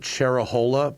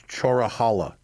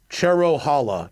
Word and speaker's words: Cherohala: I pronounce it Cherahola, but it's Chorahala. It's Cherohala, not Cherahola, is how it is. It's like Cherokee.